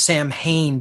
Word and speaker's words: Samhain: It's spelled Samhain, not pronounced Samhain, but Samhain in the Druidic tradition.